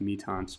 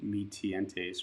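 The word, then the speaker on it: Mi-Teintes: I think it's called pronounced Mitants, but it looks like phonetically Mitientes or something like that.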